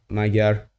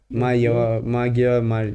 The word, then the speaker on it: Magyar: lie, like apart from the pronunciation of, I don't think it's Magyar. I think it's a yo sound from what I know. Oh, maybe Magyar? Magyar, yeah.